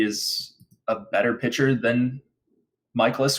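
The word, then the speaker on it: Mikolas: the cards Trevor Williams going for Pittsburgh Myles michaelis because now I know how to say his name going for st. Louis michaelis 17% projected ownership batten down the hatches everybody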